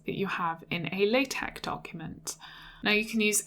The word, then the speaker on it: LaTeX: should probably say about the pronunciation it is pronounced latex not latex so installing this was quite straightforward I won't